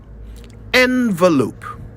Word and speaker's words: envelope: first I'll spell it e n v e l o p e now I'll say it envelope envelope not envelope envelope some people even say envelope which is a lot worse please let's all agree